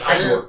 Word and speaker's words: Igor: No, it's pronounced Igor. Igor.